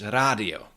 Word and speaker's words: rádio: d after d but this d is not pronounced as j it's radio and that happens in many loan words like